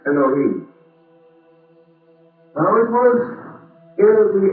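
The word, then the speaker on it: אלהים: We generally pronounce that as elohhim or more perhaps correctly elohim.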